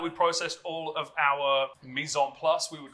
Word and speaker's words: mise en place: So, now that we've processed all of our mise en place, we would call it.